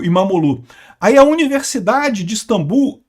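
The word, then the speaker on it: İmamoğlu: A, aliás, o regime do Erdogan prendeu até o prefeito de Istambul, o Imomoglu. Falei sobre isso, aliás, não se pronuncia o G, né? e é Imamolu, eh eh que é o principal opositor do país.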